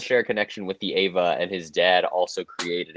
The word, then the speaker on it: Eva: No, the shorthand is Ava, but it's just Neon Genesis Evangelion.